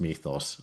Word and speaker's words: Mythos: I mean, let's start with the very very basic Mythos, uh which is by the way a Greek-derived word, which is why uh it's pronounced Mythos, uh I was told recently.